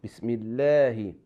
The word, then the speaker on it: Bismillahi: So in this case, we pronounce like we have a smile, Bismillahi.